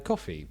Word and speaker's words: Ko-fi: We also have a coffee because quite clearly we need some sort of help, and financial help is as good as anything else.